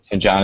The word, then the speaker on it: Sanjana: I don't know how to pronounce her first name. Sanjana Sutir. Sanjana Sutir. Okay, thank you.